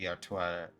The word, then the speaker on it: Artoirel: Atoire is as close as I can get to like proper French pronunciation, though my guess is gonna be I do hit that L at the end for this like sort of faux French pronunciation that has been sort of consistent. So it would be Atoirel.